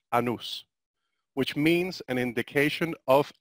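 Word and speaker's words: annus: time now the word year in Latin is pronounced anews which means an indication of a circle now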